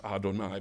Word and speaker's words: Adonai: it in the context of prayers they will pronounce Adonai but when they are speaking of God outside